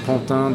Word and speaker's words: Pantin: For people at home that are thinking to invest over there, not that I'm sponsored by Pantin or anything, but it's spelled not really like it sounds. It's Pantin.